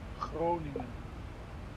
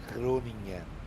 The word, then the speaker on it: Groningen: Groningen, Hakan. Groningen. It is not possible to pronounce like that, sir. Ah, you are near. You are very close. Yeah, difficult. Just clear your throat, Hakan. Groningen. Yeah. Something like this.